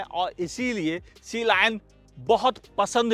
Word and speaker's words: Sealion: बी वाडी सीलाइन हां इसे कंपनी सी लाइन भी कहती है सी लॉयन भी लोग कहते हैं सीलिन भी कहते हैं ओ माय गॉड फिलहाल कंपनी जैसे प्रोनाउंस करती है मैं भी वैसे ही करता हूं सीलाइन हां यहां पर बी